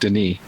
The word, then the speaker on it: Denis: how do you say it didn't if spelled Dennis within with one end but it's pronounced Denis oh that's it I'm sorry it's not for